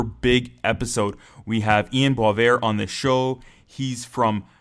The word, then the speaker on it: Boisvert: Do you pronounce it more like a French Canadian? Yeah, you got it. It's Boivert.